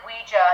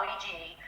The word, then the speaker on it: Ouija: So it actually is pronounced originally Ouija, not Ouija. But over the years, the naming is changed, so it's okay. It's kosher. It's okay to say Ouija, although it's originally pronounced Ouija.